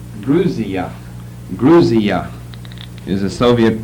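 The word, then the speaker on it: Грузия: eye is pronounced like a long e druzia grusia is a Soviet pronunciation for Georgia but it's spelled Georgia of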